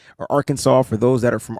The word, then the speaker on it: Arkansas: Jordan Silver from Ark Kansas or Arkansas for those that are from Arkansas.